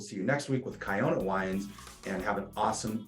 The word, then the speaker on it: Kiona: Next week, Wines of Kiona.